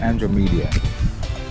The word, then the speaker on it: Andromeda: I don't know if that's the correct spelling, but it's pronounced Andromeda.